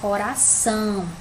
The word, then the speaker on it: coração: A palavra aqui do lado que a gente tem é coração. O são é a sílaba mais forte, então eu vou colocar uma cruzinha aqui, eu vou marcar uma cruzinha aqui.